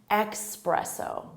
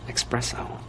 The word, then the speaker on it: espresso: Some native speakers will say it with an X sound. Espresso, espresso. Espresso, espresso, espresso. And it really bothers some other native speakers who know it should be espresso with an S sound.